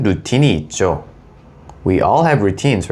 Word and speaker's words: 루틴: So routine is basically routine, but we pronounce it routine. So it's slightly different, right?